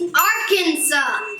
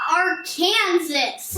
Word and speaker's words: Arkansas: daddy it's arkansas not our kansas uh okay girls so if i understand you the name of the state is the french spelling of a native american word that's actually pronounced arkansas right we need to